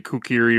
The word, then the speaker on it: kukri: If I was using Jacob, it was the kukri. I think that's how it's pronounced. Kukri. Yes.